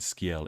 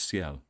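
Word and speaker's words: Sciel: I swear somebody said scale in the beginning of the game. That's how they pronounced it. But I guess her name is Seiel.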